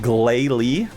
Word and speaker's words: Glalie: You pronounce it Glalie.